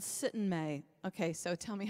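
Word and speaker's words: Syttende Mai: the audiences after shows, there's this festival called Sittenmai. Okay, so tell me how to pronounce it correctly. Sittenmai.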